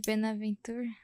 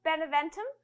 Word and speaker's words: Beneventum: Não sei se assim se pronuncia a Guerra de Benaventura. I'm sure if she pronounces it right. The War of Benaventura. You say. Battle of Beneventum A Batalha de Beneventum.